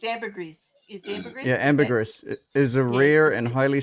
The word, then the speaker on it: ambergris: Oh, it's ambergris. Oh, that's okay, because AT2 already did. It's ambergris. Is ambergris? Yeah, ambergris is a rare and highly sought after secretion produced in the digestive system of sperm whales.